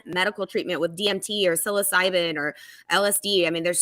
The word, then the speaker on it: psilocybin: But think about just one medical treatment with DMT or psilocybin or LSD.